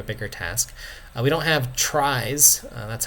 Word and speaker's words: trie: bit of a bigger task we don't have tries that's how this is um pronounced which is a cool data structure we'll